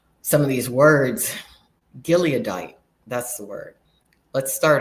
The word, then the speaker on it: Gileadite: I have a hard time pronouncing some of these names, some of these words. Gileadite, that's the word.